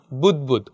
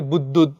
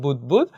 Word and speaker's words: বুদবুদ: বুদবুদ মানে কি ফেনা এটার উচ্চারণ হলো বুদবুদ অনেকে বুদবুদ বা নানা ধরনের উচ্চারণ করে এটার উচ্চারণ হলো বুদবুদ তো ঝলকিত রক্তের বুদবুদের